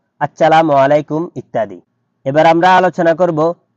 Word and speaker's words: আসসালামু আলাইকুম: কমপক্ষে এতটুকু বিশুদ্ধ উচ্চারণ অবশ্যই জরুরি যার দ্বারা অর্থ ঠিক থাকে, যেমন আসসালামু আলাইকুম ওয়া রাহমাতুল্লাহ। আরবি দেখে এর উচ্চারণ শিখে নেওয়া উচিত, অন্যথায় হা ও আইন এর হরফের যথাযথ মাখরাজ আদায় হয় না।